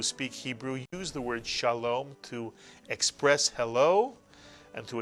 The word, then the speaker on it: Shalom: 2 vowels, 2 syllables. The word is Shalom.